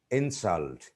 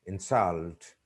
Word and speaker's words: insult: When we use some words as nouns or adjectives, the stress is on the first syllable. But when they are used as verbs, the stress is put on the second syllable.